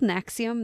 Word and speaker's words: NXIVM: It's called Nexium. That's spelled Nxivm.